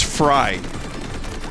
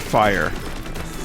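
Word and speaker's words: Frye: the same sentence also it's fry not fire but my brain likes to fill in the y after the f and i just like the idea of the fry festival fire festival he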